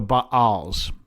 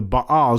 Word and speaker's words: Baal: is revised standard version doesn't have the spelling that is common in the Bible of Baal which is B Apostrophe A Ls but that's that's why I pronounce it the way it is.